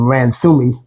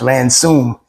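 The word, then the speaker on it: Ransome: so all this time I've been calling him ransi but uh it's pronounced ransum and it was a story about her life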